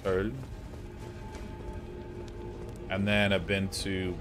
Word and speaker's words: Köln: Been to, as we'd say in America, Cologne. Been to Cologne. Which I will butcher the pronunciation of. It's like Köln.